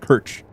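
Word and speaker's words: Krč: It's just Kirch. K RC. Kr. Yeah. Yeah. Oh, it's got you got to roll your tongue with it, I guess. Well, is the R. Is it a Is it with the hatchet? Is it? No. No. No. It's K R and CH. And CH. So, the C has the little arrow on it.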